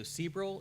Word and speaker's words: Sebrell: Sebrell, is that how you pronounce it? Okay.